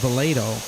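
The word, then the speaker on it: Volodo: Volado, V-O-L-O-D-O. V-O-L-O-D-O. But they're pronouncing it like Volado.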